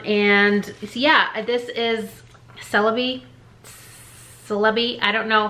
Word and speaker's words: Celebi: yeah this is celebi celebi i don't know how you actually pronounce it to me i say it like celery but with a b instead of an r so not sure but